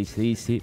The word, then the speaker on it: AC/DC: a recomendar un CD de mi banda favorita, ACDC para los amigos, AC/DC, la pronunciación correcta.